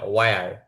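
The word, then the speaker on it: where: উপরে চারটা যা আছে এখানে কিন্তু আপনার এইচটা উচ্চারণ হবে না, হোয়াট না হোয়াট, তারপরে হোয়াই না ওয়াই, তারপরে হোয়ার না ওয়ার, তারপরে হোয়েন না ওয়েন, এইচটা উচ্চারণ আসবে না।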